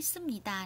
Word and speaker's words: 습니다: bạn lưu ý về cách phát âm là nó đọc là gì các bạn, sum ạ, đi ạ, tà, và tương tự cũng là sum nhì cá nhé các bạn, không phải là sup mà là sum.